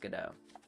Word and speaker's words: Godot: I was studying theater I already knew that it was pronounced gdau but I kind of like God do better if I'm being honest I love the YouTubers